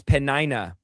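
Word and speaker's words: Peninnah: It's Panina.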